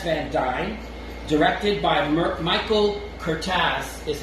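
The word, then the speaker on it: Curtiz: novel by ss van dyne directed by michael cortez is how it's pronounced i found out it's cortas all right um because he's hungarian even though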